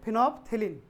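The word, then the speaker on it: phenolphthalein: एक है फिनोप्थेलिन, देखो नाम पूरा है फिनोप्थेलिन, लेकिन पढ़ने के समय में एल साइलेंट कर देना। तो फिनोप्थेलिन, और इस दूसरा है मिथाइल ऑरेंज।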